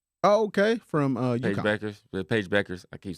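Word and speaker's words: Bueckers: dialed in on it yeah was uh Paige Bonkers oh okay from uh Beckers Paige Beckers I keep saying that name wrong sorry AG Beckers yeah she got got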